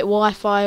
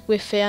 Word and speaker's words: Wify: And my name on YouTube is called Wify142, but some people call it Wi-Fi or stuff like that, but I just pronounce it as Wify.